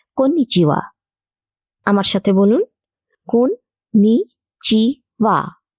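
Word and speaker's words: こんにちは: নমস্কারকে জাপানি ভাষায় বলা হয় কোন নিচিয়া আমার সাথে বলুন কোন নিচিয়া কোন নিচিয়া কন্নিচেওয়া মূলত সকালের পর থেকে সন্ধ্যের আগে পর্যন্ত বলা হয়।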